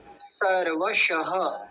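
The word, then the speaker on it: सर्वशः: सर्व शह सर्व शह इसमें एक ध्यान रखने वाली बात यह है कि पहले दंती सकार आ रहा है फिर तालव्य सकार है तो दोनों का उच्चारण अलग अलग स्पष्ट होना चाहिए सर्व श सर्व श देखि स श स श ये उच्चारण उनको अलग अलग भेद करना आना चाहिए सर्व शह अंतिम शब्द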